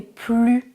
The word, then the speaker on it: plus: Je suis fatiguée, je n'ai plus d'énergie. Je ne prononce pas le S parce que c'est une phrase négative.